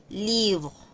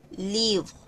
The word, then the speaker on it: livre: Entonces, es set libre, no es libro ni libre, sino que suena entre la o y la e. Livro. Livro.